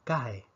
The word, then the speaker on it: cae: y nos quedaría entonces la palabra cae con dos sílabas acá vemos entonces que